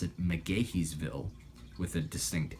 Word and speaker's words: McGaheysville: pronounce the macaque evil with a very distinct K sound in there and there's an interesting little story behind that I'm told it the easy thing the story basically goes that that town mcgaheysville intentionally mispronounced the name